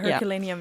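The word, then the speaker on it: Herculaneum: Roman city of I'm not sure how you pronounce it in English, Herculan. Herculanium. Yeah. Herculanium. Yeah.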